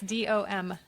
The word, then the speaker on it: Dombrowski: And so Mary Alice Dombrowski, did I pronounce it correctly? Mary Alice Dombrowski. Is there an M in there? Yes, Dombrowski.